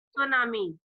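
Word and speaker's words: tsunami: Okay, तो उसको कहते हैं सुनामी। Okay, T is silent word.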